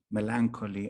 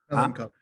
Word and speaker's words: melancholy: I think all my books have this humor, melancholy. I know melancholy is not the right pronunciation. What is the right pronunciation? Melancholy. What? Melancholy. Okay.